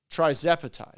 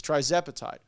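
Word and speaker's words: tirzepatide: to get this tire how do you say guys try zapatide that's what that's what the team says try zapatide potentially game changing so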